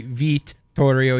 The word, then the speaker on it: Vittorio: Vittorio would be Vittorio. You got to pronounce both T's, and Mancini would be Mancini, I think.